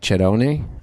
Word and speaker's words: Cerrone: In Italy, it's truly pronounced like Cerrone, I think. Oh, I would totally screw that up. Yeah, I'll stick with Cerrone.